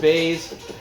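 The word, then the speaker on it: Buys: The first fight I'm gonna cover is the female strawweight fight between Mallory Martin and Cheyanne Vlismas, also known as Cheyanne Bays, pronounced Bays.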